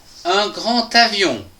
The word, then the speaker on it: grand avion: Dans la première phrase, nous pouvons lire un grand avion. Attention, ici, nous avons une liaison des A qui se prononce ta.